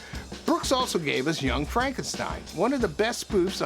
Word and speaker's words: Frankenstein: Jee Wilder playing Dr Frankenstein only he insists it's pronounced Frankenstein the movies humor is